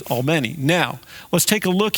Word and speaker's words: Albany: pronouncing she's got all it's not Albany it's all many now let's take a